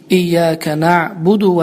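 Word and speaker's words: إياك نعبد: düzgün bir şekilde ifade etmektir Ve burdan bizleri iyya kenabudu ve iyya kenabudu havuç orada der her Fidan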